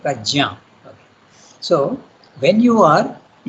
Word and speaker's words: Prajna: In our Indian languages it is Yajna, we say. Pragya, we say. But actually the name is Sanskrit, you have to pronounce it Prajna.